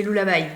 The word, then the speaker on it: Lulla: Je prononce bien? C'est Lullaby.